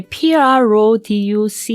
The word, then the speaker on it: produce: 그다음에 produce 이 단어도 마찬가지로 produce라고 이음절을 뒷부분을 강하게 읽으면 동사가 됩니다.